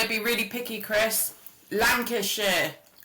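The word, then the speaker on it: Lancashire: Chris Lancasher Lancasher. Lancasher. You don't So we don't say shers, we say shia.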